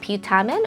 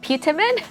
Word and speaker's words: putamen: our brain called a putamen or putamen, however you want to say that. Depending on where you're from, your accent, you may have put your accent on the wrong syllable, but anyway, putamen that coordinates our rhythm and our coordination skills.